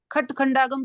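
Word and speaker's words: षट्खण्डागम: Zone में जो है खटखंडागम भी बोलते हैं, खटखंडागम। श को तो ख इस, उच्चारण। हाँ, श को ख उच्चारण, ये बहुत बाद का डेवलपमेंट है।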